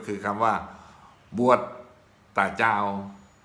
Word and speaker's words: บวช: เป็น อย่าง นี้ ครับ ใบ ไม้ สลัก กลัว จอ ช้าง สะกด อ่าน ว่า บวช บวช แต่ ชาว ปักษ์ ใต้ จะ ออก แสง กัน นี้ ว่า บวช บวช คำ ว่า ว่า